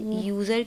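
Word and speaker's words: user: इसलिए यूज़र के साथ में आप एन यूज़ नहीं करते, आप ए यूज़ करेंगे, क्योंकि वाई जो है वो वॉवल में नहीं है ना, वाई इज़ not there in the list of the vowels.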